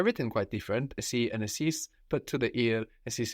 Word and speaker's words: εσείς: And esis is spelled E-S-E-I-S. And there our E sound is made combining E and I. So they're written quite different, esi and esis, but to the ear, esis is just the plural, no?